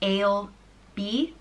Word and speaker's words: Ailbe: intelligent or noble, and is pronounced Ailbe, or Ailbe, Ailbe.